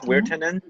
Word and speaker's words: Wirtanen: Wirtanen?